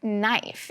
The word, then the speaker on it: knife: the word knife, because the word knife also has a silent K, which doesn't make its normal k sound at the beginning of words.